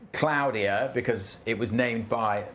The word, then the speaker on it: Claudia: The Spanish named it and that is how they pronounce it.